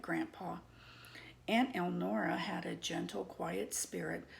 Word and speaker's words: Elnora: It irritated me that my best friend's mother kept saying her name wrong. Eleanor was that former president's wife's name. Many times I corrected her. Elnora, Elnora, Elnora, not Eleanor.